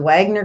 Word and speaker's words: Wagner: um is it the Wagner group is that what they're called Wagner group w-a-g-n-e-r yes they say it they pronounce it W's or views over there okay um uh so